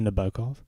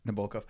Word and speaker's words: Nabokov: How would you pronounce it in English? I think it's Nabokov. Nabokov.